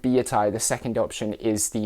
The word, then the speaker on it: billietiae: BA from Belgium so I'm assuming that's pronounced with a French accent which means that B